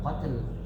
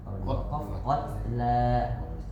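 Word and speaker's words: القتلى: Al-hurru Itu bacanya bukan qatl. Kalau ada qatla.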